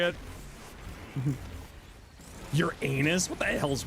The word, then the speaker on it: Uranus: Your anus.